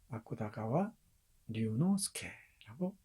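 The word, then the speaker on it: 芥川龍之介: 아쿠다가와 류노스케라고 발음합니다.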